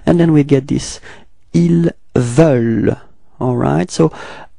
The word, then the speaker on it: ils veulent: ils veulent, alright, so it's not so deep, actually, it's quite open, it's veulent, okay? The final E-N-T is not pronounced, okay? So actually you only pronounce this V-E-U-L and quite light, okay?